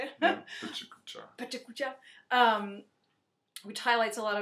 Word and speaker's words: PechaKucha: Yeah, Pechakucha.